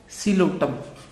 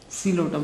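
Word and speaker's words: Psilotum: इसकी एग्जाम्पल है जी Coelotum. Coelotum. P is silent in both. Coelotum.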